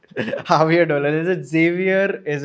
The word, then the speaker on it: Javier: I mean, if the English pronunciation of it is of course Xavier, but the Spanish pronunciation of it would be Javier.